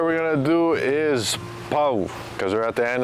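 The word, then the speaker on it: pau: is often mispronounced as pow or pow so it's not pow it's a PO so focus on those two vowels of the A and the U when you put them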